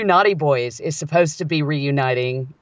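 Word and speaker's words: Knotty Boys: The Naughty Boys. Yeah, like, that's but it's spelled like great. Yeah, like KNOT.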